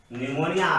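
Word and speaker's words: pneumonia: बतलाया, न्यूमोनिया, न्यूमोनिया भी, न्यूमोनिया, P silent है, NEUMONIA, न्यूमोनिया, यह भी जो है बैक्टीरियल इन्फेक्शन है, न्यूमोनिया।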